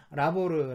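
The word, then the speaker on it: labor: 라호르 를 어원으로 합니다 철자 도가 레이버 와 똑같아요 그대로 똑같이 그냥 읽는 것만 라호르 라고 읽는데 뜻도 뭐 일이라는 뜻입니다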